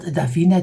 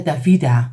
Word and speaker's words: Davida: cakes so Davina Lane of course not Davina Davida sorry I have to say it right Davida Elaine and she